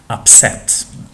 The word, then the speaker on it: upset: see it in here the stress falls on the second syllable upset so what's wrong means